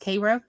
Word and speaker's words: Cairo: Cairo, Illinois is not pronounced Cairo, it's pronounced Cairo.